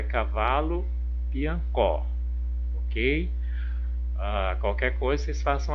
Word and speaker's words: Piancó: rimando com letra A, piancó, piancó. Ó, prestem atenção na dica. Piancó, qual que é a última sílaba tônica? O có, né? Piancó.